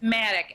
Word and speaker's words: MADACC: It's Maddox, MADACC.